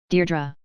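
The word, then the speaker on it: Deirdre: She had as yet hardly glanced at him, Deardra. Her heart gave a leap and then stood still. Only one person had ever spoken her name like that, with the faint stress on the first syllable that made of a caress.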